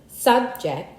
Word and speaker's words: subject: Some 24 two-syllable words in English are stressed on the first syllable. If used as nouns, however, if used as verbs, these same words are usually stressed on the second syllable.